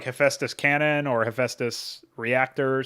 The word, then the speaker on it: Hephaestus: almost accidentally pronounce uh or type pronunciation as pronounciation hephaestus hephaestus so i guess hephaestus is not as